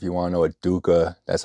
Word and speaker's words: dukkha: If you want to know what dukkha, that's how you spell it in Sanskrit.